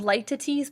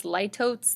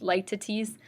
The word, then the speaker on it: litotes: something directly our next literary term is called light two teas please refrain from trying to call this litotes that's not how it's pronounced like to tease despite what it looks like like to tease is a form of understatement formed by a